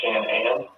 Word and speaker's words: Shanann: Does her family call her Shanann? So the way they spelled it, it was like Shan-Ann, like with an apostrophe, but she just called it Shanann.